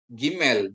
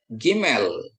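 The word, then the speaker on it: גימל: Gmail dibunyikan seperti G dalam kata gajah.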